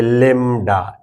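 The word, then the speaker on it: lambda: लडा ठीक है माइव इसको हम बोलते हैं लडा एल ए एम बीडी ए मगर य भी साइलेंट है लडा हम बोलते हैं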